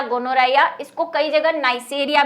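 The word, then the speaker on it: Neisseria: ठीक है, नाइसेरिया भी लिखा हुआ मिल सकता है, नाइजेरिया भी लिखा हुआ मिल सकता है, वो डिपेंड करता है बुक पे। ठीक है, वैसे नाइसेरिया ही है अगर आप इसकी स्पेलिंग पढ़ेंगे तो।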